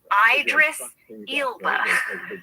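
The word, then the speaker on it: Idris Elba: mispronounce his name and his name is pronounced Idris Ila it's so ridiculous and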